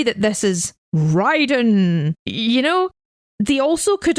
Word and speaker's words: Raiden: They've not even pronounced it right. We talked about that earlier. Should be pronounced Raiden.